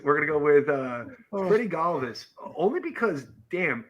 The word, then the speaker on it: Galvis: Is that I found out this year his name is pronounced Galvis, and it ruined my life.